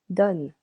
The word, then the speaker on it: donnes: Tu donnes. Silent S.